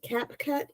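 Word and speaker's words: CapCut: and it's pretty powerful surprisingly c a c cap cut or yeah you said it right I I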